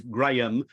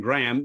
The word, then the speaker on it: Graham: Actually, strictly speaking, it is Graham rather than Graham, but Americans pronounce it Graham, so I'll accept whatever you take.